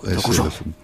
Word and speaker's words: Dokuso: Es más japonés. Es el acento en lao. Dokuso.